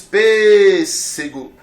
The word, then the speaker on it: pêssego: palavras Tá certo então pêssego onde é que está a sílaba tônica está na primeira sílaba você diz pêssego essa palavra ela é